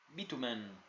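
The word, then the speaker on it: Beauchemin: El señor Fred había aprendido a pronunciar su nombre de manera correcta, lo llamaba Bitumen.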